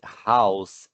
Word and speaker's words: house: Tem como título a unidade House and Home. House and Home. Nós não pronunciamos o E final em inglês, né?